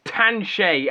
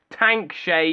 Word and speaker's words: Tanshe: their own model of it's tan shay and it's not tank shea if you pronounce it